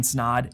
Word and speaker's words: Snaadt: My name's Snaadt and it rhymes with odd, and I'm out.